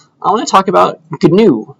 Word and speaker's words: GNU: It's called GNU, but they say with a hard G, GNU.